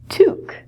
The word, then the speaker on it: toque: The pronunciation of this word is different than the spelling because it's French.